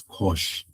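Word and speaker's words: cosh: And then for kosh like I've been saying we pronounce that as kosh right and um the identities from the from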